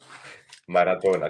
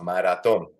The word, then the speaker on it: maratón: Maratona, que a la italiana, yo maratona, maratón, maratón, lleva tilde en el lado.